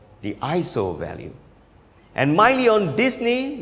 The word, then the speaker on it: ISO: You should simply change this value called the ISO value. And Miley on Disney, one of our most loyal subscribers, you are totally correct. It's pronounced as ISO, which in Greek stands for equal.